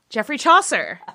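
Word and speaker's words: Geoffrey Chaucer: of um how do you how do you pronounce this one nathan geoffrey chaser yes very close jeffrey chaucer um yeah that jeffrey chaucer catherine swinford and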